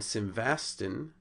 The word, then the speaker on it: simvastatin: Simvastatin from simvastatin has changed the accent from the unaccented first two syllables to an accented first syllable, and we had one open syllable and two closed syllables to just two closed syllables.